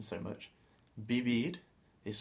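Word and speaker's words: vivir: do they don't say Vivid they pronounce it more like a b like b b b b so it's actually a little bit in between b and a v it's quite a soft B so b b and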